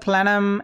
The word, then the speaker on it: plenum: Plenum spaces, I believe this is pronounced plenum, not plenum.